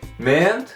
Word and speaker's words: meant: Não pronuncie o A aqui, meant.